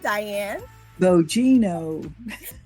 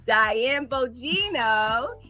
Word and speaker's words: Diane Bogino: I'm going to let her pronounce her whole name for you. Diane Bogino. Diane Bogino.